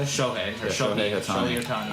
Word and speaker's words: Shohei: Shohei? Shohei or Yeah, Shohei Shohei Ohtani.